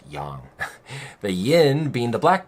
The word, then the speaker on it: yang: You might say yang, but it's pronounced yang.